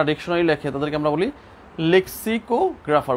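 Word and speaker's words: lexicographer: ও জি আর এ পি এইচ ই আর লেক্সিকোগ্রাফার যারা dictionary লেখে তাদেরকে আমরা বলি লেক্সিকোগ্রাফার উচ্চারণটা হচ্ছে এরকম ঠিক তোমার তুমি তো আর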